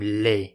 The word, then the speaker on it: les: Le again okay so both the words Le and La become lay in the plural and this is actually